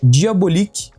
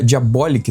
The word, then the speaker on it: Diabolik: E o primeiro deles não é Bonelli, que é Diabolique. Eh, Diabolic, na verdade, uma um cara até me corrigiu nos comentários a quem eu agradeço. Não sabia a pronúncia do nome do personagem, mas é Diabolic.